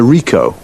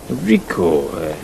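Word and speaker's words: Ricoh: It's a Rico. Rico. How do you spell that?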